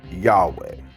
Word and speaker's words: Yahweh: But this is not the original pronunciation, but a pronunciation manufactured from the combination of the consonants of the name plus the vowels from Adonai. Scholars think the original pronunciation was something like Yahweh.